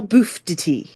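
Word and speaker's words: Bouffes d'été: Hotel name ever and I've read so many different things of how to say it and like looked it up in all these different things like I was listening to French and everything but it's bof D Hotel bof Tity boof titties boof titties it's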